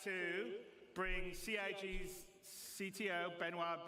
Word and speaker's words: Benoit: And without me waffling on, I'd like to bring CIG's CTO, Benoit Bézageur.